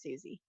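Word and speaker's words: Cusi: So it's spelled funny, it's spelled C-U-S-I, but it's just pronounced Susie.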